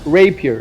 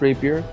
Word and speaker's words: rapier: so all you got to do is uh rape here it's pronounced Rapier and uh you just double click the little